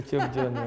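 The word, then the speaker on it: thiéboudienne: En tout cas, dans les plats tellement connus du Sénégal, il y a le tchebdjen. J'ai bien prononcé là? Oui, c'est le tchebdjen.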